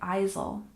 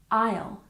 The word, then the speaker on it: aisle: first we have Isle in this word the S is silent we don't say I just like the word Island we don't say the S so we pronounce it like Isle we don't say Isel it's Isle Isle for example when I